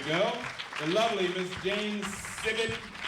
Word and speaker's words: Sibbett: The lovely Miss Jane Sibbett. She told me to pronounce it like a frog.